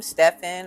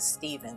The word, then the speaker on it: Stephen: So the name Stefan or some might may say Stephven. I know somebody that spells their name exactly this way and they pronounce it Steven.